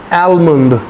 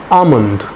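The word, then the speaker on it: almond: हाउ डू we pronounce आलमंड? नो, आमंड, आमंड, आमंड।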